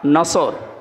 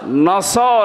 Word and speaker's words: নাসর: নিয়েন আমরা তাফসীরুল কোরআন মাহফিলে প্রবেশ করছি সূরা নসর কোন সূরা বলেন বলেন নাসর নসর না নাসর নাসর নুন সোয়াদ র নাসরুন